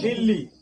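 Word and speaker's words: Delhi: में, क्या बताए थे कि देलही लिखा जाता है, लिखाता है कि नहीं, ऐसे ही तो लिखाता है इंग्लिश, लिखाता है कि नहीं, देलही। इसको हिंदी में लिखिएगा दे लही, ऐसे ही लिखाएगा। लेकिन इसको कहेंगे क्या चीज पढ़ने के लिए, दिल्ली। अब बताइए कि हमने दिल्ली तो इसमें उच्चारण कर दिए, बोल रहे हैं कि नहीं दिल्ली है लिखा हुआ है, दिल्ली ही पढ़िए।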